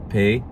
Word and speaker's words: פ: And pei. Pei has two pronunciations, P and F.